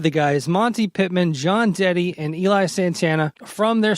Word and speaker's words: Dette: And it's Dette.